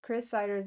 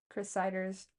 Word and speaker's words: Chris Siders: Chris Ciders is Chris like you would spell it. C H R I S I D E R S. Chris Ciders.